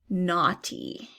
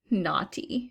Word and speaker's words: naughty: This GH is silent. We don't hear it making any noises.